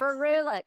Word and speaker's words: ferulic: the vitamin C E and F help me pronounce it fuic acid ferulic yes ferulic okay ferulic and I will say before discovering Dermatology I